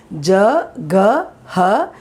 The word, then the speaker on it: jagah: The next word, jagah. Jagah. Remember the pronunciation, how I'm doing. Ja-ga-ha, jagah. Ha has come, so the previous word as sound. Jagah means place.